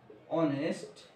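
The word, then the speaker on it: honest: উচ্চারণ হবে না এখানে উচ্চারণ কি হয় আওয়ার অনেস্ট এইখানেও এইচ এর উচ্চারণ হয় না এখানে কি হয় অনেস্ট উচ্চারণ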